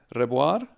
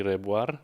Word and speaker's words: Rebuar: It depends which language The Germans call me Rebuar. My parents call me Rebuar with the rolled R, and the English say Rebuar.